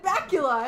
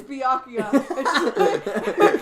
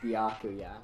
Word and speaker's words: Byakuya: did he tell her she said she said bacula and he went it's byakuya and then she just said I'm sorry and